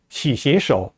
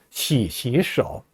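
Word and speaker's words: 洗洗手: 삼성 글자가 연달아 나오면서 앞에 있는 두 글자 시가 다 제2성으로 발음됩니다. 시시 手.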